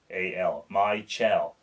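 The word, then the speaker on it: Mychal: Michel. Maybe that's how you pronounce it.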